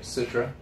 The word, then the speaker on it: Citra: well citra yes no you said it right citra that's the only hops in it a lot